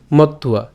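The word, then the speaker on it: মত্বা: তো আমরা এই তন্তেটা একসাথে উচ্চারণ করতে পারি বরতন্তে। ঠিক আছে, বরতন্তে, তাহলে বরতন্তে ইতি মত্তুয়া।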